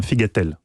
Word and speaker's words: figatellu: chronique, ne dites jamais figatello si vous allez en Corse, c'est un figatel. Vous ne prononcez pas la fin, tout simplement.